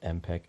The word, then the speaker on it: MPEG: s understanding MP3 the name comes from MPEG pronounced mpec which stands for motion picture expert experts group